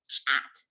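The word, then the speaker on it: khat: up all right so in ethiopia where i grew up the pronunciation is chat you know how they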